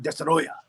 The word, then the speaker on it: Destoroyah: Godzilla versus dya U and that's how they say it Destroyer that's how I say it too Destroyer Destroyer you know say Destroyer we say in yanas